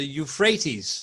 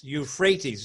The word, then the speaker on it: Euphrates: think the pronunciation of the river is the Euphrates Euphrates is the correct pronunciation in English India then I heard the